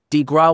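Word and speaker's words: coup de grâce: Bank The Killing below the coup de grace pronounced DeGraw was delivered upon the American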